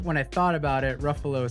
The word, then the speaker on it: Ruffalo: were talking about mark ruffalo ray pronounced it ruffalo yeah yeah but he also recorrected himself and said ruffle yeah right after we